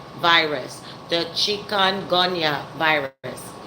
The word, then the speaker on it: chikungunya: And it's the chikungunya. I didn't have the pronunciation totally correct.